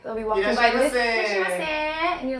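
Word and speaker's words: いらっしゃいませ: Irashaimase.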